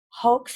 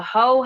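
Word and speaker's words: Haux: She is 1/3 of the Hoax Hive. Am I saying it right? The Hoe Hive.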